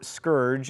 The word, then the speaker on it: scourge: Seemingly monotheistic, feels like the heathens, in this context likely the Native Americans, have been sent as a scourge, or scourge, as it is apparently properly pronounced.